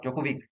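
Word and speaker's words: Djokovic: player কোথাকার player সার্বিয়ার Novak জোকোভিক D silent থাকে ঠিক আছে নোভাক জোকোভিক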